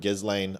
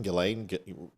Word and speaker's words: Ghislaine: Is it Ghislaine? Ghislaine? I think it might be Ghislaine, but I don't give a shit. So either. the S is silent? I think so.